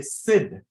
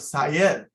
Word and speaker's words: Syed: the first one first my teachers begin to say Sid instead of Sayed because Sayed was too hard to pronounce I said okay I'll